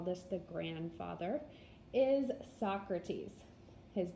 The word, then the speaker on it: Socrates: which we could call this the grandfather is Socrates his name is spelled like so grapes but we pronounce it Socrates now Socrates had a teaching method that involved